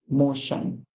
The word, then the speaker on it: motion: m o and on motion so the t i o n say Shan t i o n says Shan and a lot of